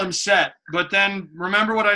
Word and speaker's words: Seth: darkness yeah okay but the th that's not a thing outside of English so it's set so it's set it would be pronounced